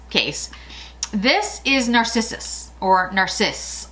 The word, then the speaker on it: Narcisse: This is Narcissus, or Narcisse. It's spelled Narcisse, so I guess it would be Narcisse.